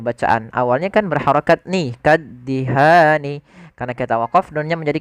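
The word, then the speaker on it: كَالدِّهَانِ: Kemudian lafal kaddihan tekan di huruf da-nya, kaddihan.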